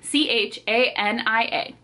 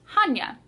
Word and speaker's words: Chania: I was saying Chania this whole time. It is Chania, like ha ha ha, Chania.